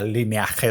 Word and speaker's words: Lineage: Yo no soy el tío que en el videojuego de turno, cuando con 18 años jugaba al Lineage 2, en español se pronuncia Lineaje 2, yo no soy el que se pillaba el humano.